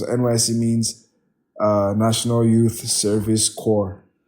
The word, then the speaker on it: corps: We call the NYSC people coppers because NYSC means National Youth Service Corps. So the silent P in corps now becomes a verb, which is now a gerund.